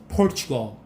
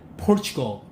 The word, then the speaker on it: Portugal: 스트레스 맨 앞에 있습니다. Portugal. 우리는 이 발음을 포르투갈이라고 그러죠? 포르투갈. Portugal.